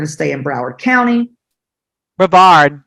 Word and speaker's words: Brevard: Brevard, not Broward.